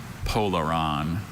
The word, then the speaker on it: polaron: You got all the Are there any alternate pronunciations? Just the one. Polaron.